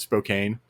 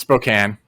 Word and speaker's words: Spokane: we got notes on how we pronounced spokane wrong oh okay oh because we pronounced it spokane i was pronouncing spokane yeah it's spokane okay we got numerous